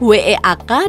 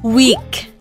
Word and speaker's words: weak: Ada juga kata lemah, W-E-A-K, dan minggu, W-E-E-K. Itu ngomongnya bukan W, bukan gitu. Ngomongnya adalah weak. Ya, lebih keren dikit dong, weak, gitu ya.